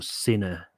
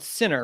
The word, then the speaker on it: Senna: So it's called Sinner, right? Senna.